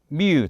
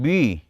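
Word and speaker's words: μ: 그러니까 그건 이 웁 실론 을 어떻게 발음 하느냐 에 따라 달라지는데 , 발음 에 따라 결과 가 달라질 수 있어 요 . 우리말 로 'u' 처럼 발음 하든 'ü' 처럼 발음 하든 상관 없지만 , 솔직히 'ü' 에 더 가깝게 느껴져 요 .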